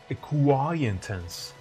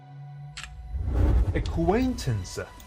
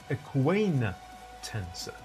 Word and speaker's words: acquaintance: many students fall in this Pitfall and they pronounce it aant tense while it is pronounced acquaintance you see acquaintance both in American and British and what is